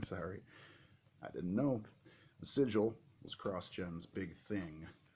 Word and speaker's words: Sigil: called ski I'm sorry I didn't know the sigil was cross Jen's big thing in their comics